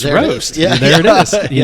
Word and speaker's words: Rōst: i went ahead and googled the word roast r-o-a-s-t and when when you google the definition of a word um it writes it out phonetically underneath so you know how to pronounce a word yeah yeah and when it wrote it out phonetically it spelled it r r o s t with a what's called a macron above the o okay and um and